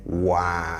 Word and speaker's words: wo ara: say sewa unim, and pay attention to how he says the wa. Wow, sewa unim. We have Woo Ara, but then when we are saying it, you hear wa. It's the same as unku ara. Unku ara. You see it written as unku ara, but when we are saying it, we say unkwa.